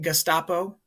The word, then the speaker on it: Gestapo: gapo it's Germans military police gapo you might pronounce it gestapo either way but it's now the term that